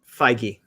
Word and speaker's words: Feige: Kevin Feige. Thank you, Kevin Feige.